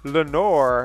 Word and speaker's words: Lenoir: Lenoir, am I pronouncing that right? Well, it's Lenoir.